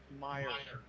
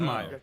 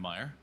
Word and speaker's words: Meyer: It is Meer. Clear that up. Jace Meyer. We've been saying it wrong. I figured it would be Meer. Yeah, it makes sense. That's how Why? Who called him mayor? Commentary all season. I've been calling him Meyer.